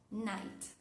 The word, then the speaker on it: night: Por ejemplo, la palabra night.